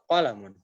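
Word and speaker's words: قلم: Nah, hati-hati untuk kolamun, jangan sampai ada yang panjang.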